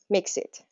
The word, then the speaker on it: MXiT: and news to weather Brands games and CBS mixit has something for everyone the creator of mixit